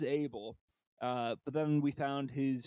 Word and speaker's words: Abel: we decided to, fully put to bed what the pronunciation is, and it is Abel.